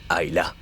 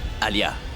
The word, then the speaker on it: Alia: Ayla. Alia. C'est ce que j'ai dit, Ayla. Pourquoi tu peux pas prononcer le nom d'Alia correctement?